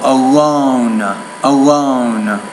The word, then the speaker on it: alone: um the word alone you're not clearly pronouncing the O alone alone so D was the